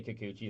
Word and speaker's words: Kikuchi: You say Kikuchi. I say Kikuchi. That's how it's pronounced.